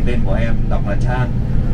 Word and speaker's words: Chang: nghiện món bia Thái thì tên của em đọc là Chang, Chang C H A N G.